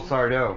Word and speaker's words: Sardo: Because you could have used a little Sardo. It's happening. It's happening. Accent on the dough.